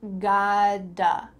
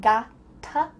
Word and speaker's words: gotta: You gotta, gotta. Do you notice that the middle of this word doesn't sound like gotta? With a T. Instead, it sounds like a D.